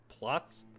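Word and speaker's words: Płock: It's pronounced plots plots plots.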